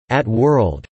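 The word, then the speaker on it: @WORLD: named the system the Bandai Pippin at World pronounced at world Liat world had the same specifications as the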